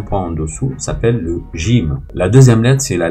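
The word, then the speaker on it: ج: Alors pour la prononciation, la lettre qui a un point en dessous s'appelle le jim.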